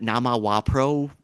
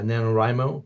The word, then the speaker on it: NaNoWriMo: The other thing, I'm going to mispronounce it, but Nama Wapro or whatever you do every November. Oh, yeah, yeah, yeah. Yeah, NaNoWriMo.